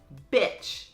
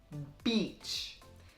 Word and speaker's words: beach: A lot of people who are learning English confuse the long E sound in beach. And sometimes they confuse it with a short I sound and end up saying bitch instead of beach. You're wearing that? So it's important to say beach because bitch is another word.